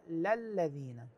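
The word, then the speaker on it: لِلَّذِينَ: الناس بابراهيم للذين للذين لام هنا مفتوحه وليست مكسوره بعض الناس قراها للذين هذه قراءه غير صحيحه الصحيحه هي للذين الصفحه التي بعدها في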